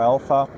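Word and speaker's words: AllPHA: So at current we have one formulation called All PHA or Alpha, the way you pronounce it.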